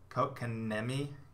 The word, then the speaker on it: Kotkaniemi: Kotkaniemi. Nemi. It's like Niemi, but there's too many K's in front of it.